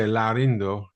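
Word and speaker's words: Laurindo Almeida: See, I'm trying to put too many syllables in there. I mean, um, a lot of the people just said Laurendo, and Yeah. then people that were more Brazilian would say Laurindo.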